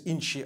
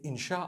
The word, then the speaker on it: insha: in means to create no one says inshi Allah they say insha Allah that's what it